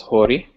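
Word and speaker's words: ϩⲟⲣⲓ: The next letter is hori. Hori. It looks like a backward S, and it's pronounced just as a plain H sound, like the word house.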